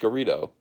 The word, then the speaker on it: Garrido: Garrido, I got it right that time. It's pronounced Garrido.